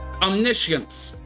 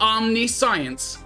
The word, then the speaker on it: omniscience: drop pile exhaust omniscience is how you say this word it is not omnis science it is omniscience once again English lesson for you omniscience not omniscience omniscience what it means is